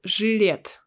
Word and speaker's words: Gillette: is an english word gillette gillette well if i pronounce it correctly because in russian we pronounce it as juliet juliet juliet sounds different yeah gillette juliet here